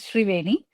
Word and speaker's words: Sreeveni: So my name is pronounced as Shrieni or you can go by Shri but uh I currently